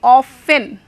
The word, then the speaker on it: often: ऑफन, O-F-T-E-N, ऑफन। यहाँ पर ध्यान देंगे बच्चे आप लोग, T silent, T is silent, you have not to pronounce T, you have to say only often, okay, T को आप नहीं pronounce करेंगे।